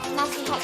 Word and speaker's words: nasihat: bukan nasihat orang tua, tapi yang benarnya itu nasihat ya teman-teman. Kenapa? Karena dalam penyerapan kata bahasa Arab itu kita harus sesuaikan dengan orang Indonesia ya, pengucapan pelafalan Indonesia tuh kayak gimana. Jadinya itu pelafalan kita tuh orang Indonesia tuh nasihat. Jadinya bukan vokal E tapi vokal I ya teman-teman.